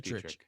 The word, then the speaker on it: Dietrich: Derek Dietrich.